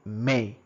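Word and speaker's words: mais: a but K may we don't pronounce s we say may now men men especially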